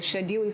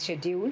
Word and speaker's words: schedule: Schedule can be said as schedule. Schedule can be said as schedule. It can be said as schedule. It can be said as schedule. So it has the 4 correct pronunciations.